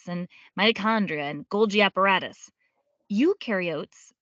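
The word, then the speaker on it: eukaryotes: Ukarotes the U rhymes with do.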